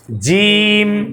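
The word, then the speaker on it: ج: শেষে কি তাহলে জিম শেষ হবে ঠোট ওখানে চলে যাবে দেখেন হ্যাঁ শেষে শেষ এখন জিমের প্রথম শুরু হবে জিহবার মাঝের যে অংশটা তালুর মাঝখানে লাগবে জিম জিম জিম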